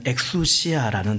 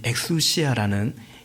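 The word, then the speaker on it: ἐξουσία: 또 아 6절에도 노동하지 않을 권리가 없단 말입니까?이 이 글리라는 말을 어 계속 나옵니다.이 글리라는 단어의 헬라 원은 어 그냥 우리식 발음으로 하면 엑수시아라는 단어입니다.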